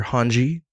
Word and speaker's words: Hanji: And that shaped the beginnings of your Hanji art. Did I pronounce that right?